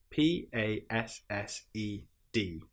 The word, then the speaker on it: passed: P A S S E D passed. Some other examples are itched, scratched. You will notice in these examples that we don't pronounce the e sound at all.